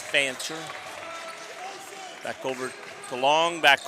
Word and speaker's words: Fancher: F-A-N-C-H-R, so I'm not mispronouncing something there. It is Fancher.